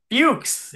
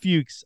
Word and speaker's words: Fuchs: great ice breaker is it rhymes with pukes so it's pronounced fukes it is fukes I love it I